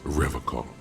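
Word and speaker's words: Revachol: his feet he pronounces revon with a hard K unlike other people yeah I did I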